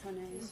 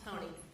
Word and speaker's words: Hone: Am I saying that properly, Ms. Hone? Honey. Honey. Yes. Okay. You're all saying it wrong.